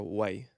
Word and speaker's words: wai: think also so in Hawaiian the W can be pronounced as a V or a wa. So you could say Mm. vai is water. I Yeah. could say vai or wai. And it's either.